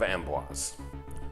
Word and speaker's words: Amboise: He plays the Doctor in episodes 1 and 4, but in episodes 2 and 3 he plays the Abbot of Amboise. And that's how it's pronounced.